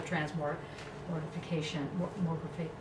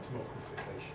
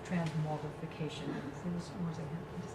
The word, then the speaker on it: transmogrification: It'll be part of this whole transmortification, transmogrifying. How do you say that? Transmogrification. Yes, transmogrification.